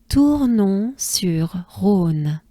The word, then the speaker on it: Tournon-sur-Rhône: So, we have Tournon-sur-Rhône.